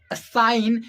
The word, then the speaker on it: sign: in elongation as as I have taken the word sign in that GE we are not pronouncing but G is helping us in stretching the word sign okay otherwise why are